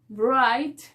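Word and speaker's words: write: y nos dice que la w es muda al principio de una palabra si es que viene antes de la por el champú y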